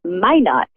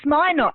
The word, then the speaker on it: Minot: It's Minot, actually. It's Minot, is it? Oh, how funny. Yes. I pronounced it in the French way, right? So Minot.